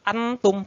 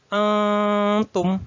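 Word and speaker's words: أنتم: sama nomor dan dengung Jadi bukan wala Antum salah bukan Antum tapi eh Tum nah agak di samar-samar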